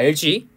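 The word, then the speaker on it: algae: LG. 잠깐만.이 스펠링이 EA였나? A였나? 읽을 때는 LG라고 있거든요. LG.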